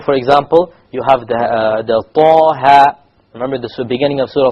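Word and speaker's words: طه: You don't make it longer, Taha. Neither do you make it shorter, Taha. You actually make it Taha, exactly. 2 harakas, exactly.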